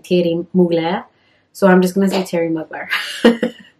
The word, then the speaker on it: Thierry Mugler: how to say it, they said that the Thierry has almost like a Y, I think it is, in it. And then it's Mugler.